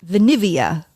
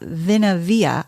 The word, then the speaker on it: Vinivia: Because Louis launching he did launch his next company, of course, called Vinivia, not Vinavia. I had no idea how to pronounce it until I heard him say, I still don't.